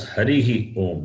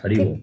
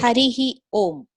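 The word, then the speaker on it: हरिः ॐ: The Visarga must be pronounced, not Hari Om. Visarga should not be cut. Harihi Om. Yeah, that's the right way. People say Hari Om, that is not correct.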